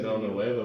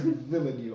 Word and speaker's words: Villeneuve: I was going to say No Nueva, but no, I think it's more syllables than it's there. It's Villeneuve, I'm pretty sure.